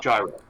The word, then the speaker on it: gyro: I think the indication, though, pronunciation of ancient languages is to be debated, is that the Greeks would have said g, but English it's j. So gyro.